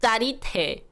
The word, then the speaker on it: 짜릿해: So you want to say 짜릿 짜릿해. And if you can't pronounce the silent T after lit, you could just say 짜릿 짜릿 짜릿해.